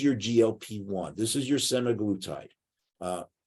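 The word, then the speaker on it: semaglutide: glp-1 this is your semi-glutite uh I've also heard it pronounced semaglitide in some some places too so I'm going to use semi-glutide because I'm from the East Coast so um glucose independent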